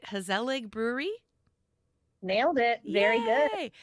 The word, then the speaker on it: Gezellig: let me hope I can say it right, GeZellig Brewery?